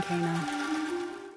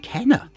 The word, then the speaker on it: Kena: i'm glad you've come kana kana i've been pronouncing it kenner there aren't many characters